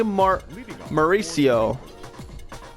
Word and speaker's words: Mauricio: That'll bring up Ronnie Mauricio, The shortstop. if I pronounced that right.